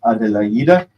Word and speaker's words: Adelaide: which is called Adelaide, which is the name of his beloved, Adelaide, but it's pronounced Adelaide.